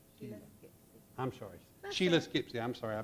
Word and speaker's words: Sheila Skipsey: If I could have Shania Shipsey. Did I pronounce that right? Sheila I'm sorry. Sheila Skipsey.